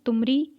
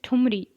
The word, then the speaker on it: ठुमरी: तुमरी इट इज़ ठुमरी, तो ये थोड़ा सा मिसप्रोनाउंस है।